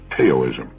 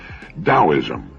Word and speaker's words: Taoism: spelled t a o i m and often mispronounced taoism Daoism the Dao signifies the energy of the universe